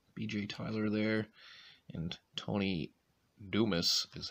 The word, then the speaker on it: Dumas: And Tony Dumas is how you pronounce that.